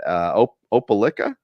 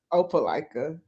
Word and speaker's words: Opelika: Opelika. Opelika.